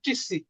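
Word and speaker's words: часы: এটা ইর মতন, এটা এক্সেপশনাল, পড়ার বাইরে মুখস্থ করতে হবে, যে এটার উচ্চারণ চিসি।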